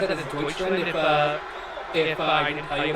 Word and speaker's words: Deutschland: word for Germany, would you be able to pronounce it without like struggling? No. Do you know what it is? No. Deutschland. Oh, Deutschland.